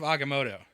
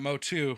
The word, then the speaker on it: Agamotto: on mumu's nerves uh in the eye of agamotto aoto agamotto not motto not motto agamotto not Motu I think is what you were saying was